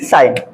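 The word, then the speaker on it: sign: तो मैं बताया कि जब किसी वर्ड में ठीक है एन से पहले आपको देखेंगे एन से पहले जी आएगा तो वहां पर जी क्या होगा बिल्कुल साइलेंट होगा ठीक है आप एग्जांपल भी आप दे सकते हैं ठीक है क्या तो आगे देखि साइन एस आई जी ए अब इसको हम क्या पढ़ेंगे साइन पढ़ेंगे यहां भी हमारा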